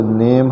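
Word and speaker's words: name: इसी प्रकार से नेम है, नेम में भी ई अंत में है, उसका उच्चारण नहीं करते, और उसके पहले जो यन के बाद ए है उसको सेम, उसका पूरा उच्चारण ए के रूप में करते हैं, तो नेम।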